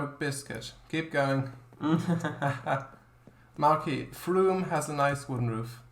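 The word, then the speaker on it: Frome: Marky, Froome has a nice wooden roof. Alright. Nice. I'll have a look. Froome railway station. Oh yeah. Inside the train shed. There's a picture. And you pronounced it right.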